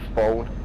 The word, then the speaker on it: phone: but it's actually pronounced phon. So that's the difference, because PH gives you your F.